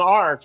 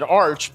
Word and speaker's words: arch: I don't know why she's saying arc. It's in America we pronounce it arch, but it's an idea Trump lifted from the arch.